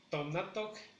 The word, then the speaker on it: tonatoc: Y si decimos tonatoc, que está haciendo calor o que está haciendo sí, que está haciendo calor. Tonatoc, tonatoc. Lleva acento en la segunda sílaba.